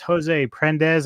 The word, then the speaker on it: Jose Prendes: here on the Middletown Radio podcast with my special guest, Jose Prendes. Am I pronouncing that correctly?